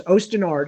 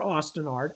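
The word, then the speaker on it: Osten Ard: mention this is because ostinard is one of those things Ocean or Austin art I don't care how people pronounce it um ostinard probably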